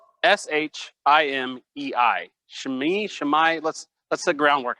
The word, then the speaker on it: Shimei: Like, how are we going to call him? Okay, we'll go with, you want Shemai? We'll go with Shemai.